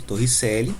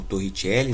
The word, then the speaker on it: Torricelli: lá que fala né de torricelli ou torrentielle mesmo pessoal quiser como que era pronunciar e essa equação aqui ó